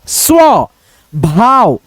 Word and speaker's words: स्वभाव: यहाँ पे देखो आधा स व के साथ में संयुक्त है, यानी मिला हुआ है, तो हम लोग दोनों को एक में ही पढ़ने का प्रयास करेंगे। एक में उच्चारण कैसे हो सकता है, स्व, स्व, स्व भाव, स्वभाव।